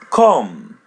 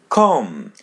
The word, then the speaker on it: com: Come. Com. Com. As you see the letter M comes in the end and there is letter O before. So pronounce it M as in English.